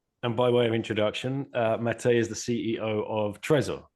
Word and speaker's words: Matej: All right, Mate, we're here, and I hope I pronounced that correctly. Yeah, it's pretty accurate. Excellent, thank you. It looks like Matej in English, but there you go.